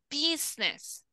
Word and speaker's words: business: Business. Business. No se pronuncia la U, sería business.